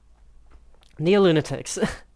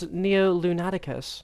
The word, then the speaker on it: Neo-Lunaticus: Neo-Lunatics. I've been reading that wrong the whole time. It's Neo-Lunaticus.